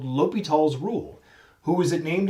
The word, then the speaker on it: L'Hôpital: but it is called l'hopital the h is silent in french so this is called l'hopital's rule who is it